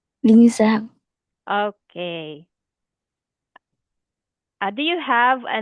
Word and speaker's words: Linh Giang: Lin? Linh Zhang. Okay. Do you have a nickname? Zhang. Okay. Is there a other name you want me to call you? Okay, can I call you Lin?